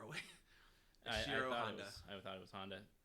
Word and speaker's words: Honda: sorry his name again is Shiro hanada hanada oh Honda I was about to say it's my screen's too far away I thought it was Honda it's interesting uh especially